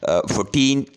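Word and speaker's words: fourteen: first saleable stress है इस तरीके से है 14 14 में अ सेकंड जो सिलेबल है वो स्ट्रेस है इसके बाद है 40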